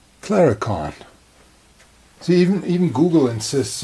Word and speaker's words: Claricon: unit in it so those of you who think I miss pronounced the name I didn't it actually is Clara can't see even even Google